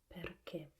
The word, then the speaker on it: perché: We use the same word, and it should be pronounced in Italian RP, perché, with a closed e at the end, and with the accent on the last syllable, because the accent tells